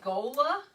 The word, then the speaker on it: gola: is the word i'm going to say it gola g-o-l-a and there's pronunciation marks i don't know what those are